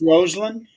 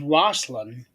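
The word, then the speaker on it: Rosslyn: pronounced Roseland. Roseland. Okay. Yeah. When I read it, it reads like it's Roslyn Yeah.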